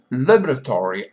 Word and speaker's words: laboratory: The laboratory accent is on the first.